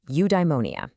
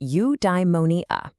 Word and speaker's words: eudaimonia: Okay, I've got a new word for you, eudaimonia. It's pronounced you die money uh.